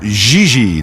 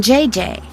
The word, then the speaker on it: JJ: No, I mean JJ. Xi. JJ F. You pronounce G like J and J like G. She may very well be JJ in America, but in France she is Xi.